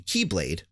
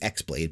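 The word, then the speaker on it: χ-blade: keyblade war in an attempt to forge the Keyblade which is in the game symbolized his ex blade but it actually is pronounced Keyblade and gain access to Kingdom Hearts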